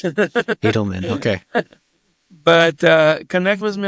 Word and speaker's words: Eidelman: I'm the only Eidelman, by the way, is how it's pronounced, but it's Eidelman.